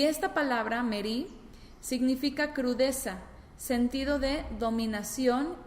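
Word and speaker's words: מריא: Y en el caso de la otra palabra merí, que también se pronuncia igual, pero se escribe diferente, nada más tiene añadida una aleph al final. Es decir, es mem, resh, yud, aleph. Y esta palabra, merí, significa crudeza, sentido de dominación y señorío.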